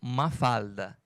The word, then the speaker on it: Mafalda: Em espanhol, eles pronunciam Mafalda.